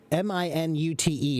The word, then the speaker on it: minute: M-I-N-U-T-E is pronounced minute.